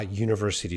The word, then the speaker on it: university: vowel there but it's it starts with a u sound more of a y sound so starts with a y sound a consonant sound a university student okay